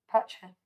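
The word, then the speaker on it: Pacha: Patcher.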